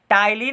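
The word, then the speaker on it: ptyalin: टाइलिन amylase. देखिए पी से शुरू है, पी यहाँ पर साइलेंट है, टाइलिन अमाइलेज कहते हैं, ठीक है।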